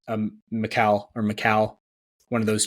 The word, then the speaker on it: Mikal: I think it's Mikal or Mikal, one of those two. Very similar, but it's like Cal, like Superman's name. Superman's first name.